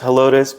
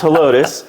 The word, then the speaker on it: Helotes: But in that community where we're at in Helotes, it's actually a Spanish word for Hispanics. I am butchering that word because if you live in that town, they pronounce it as Helotes, but it means corn.